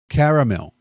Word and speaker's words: caramel: Caramel. Americans say caramel like they're talking about a town in California. It's caramel. Caramel. It's caramel. You're objectively wrong.